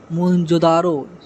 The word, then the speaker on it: मोहनजोदड़ो: इनमें से 2 नगर बहुत ही महत्वपूर्ण है, पंजाब का हड़प्पा, सिंधु का मोहनजोदड़ो। मूल उच्चारण मोहनजोदारो, जिसका शाब्दिक अर्थ होता है प्रेतों का टीला यानी मृतकों का टीला।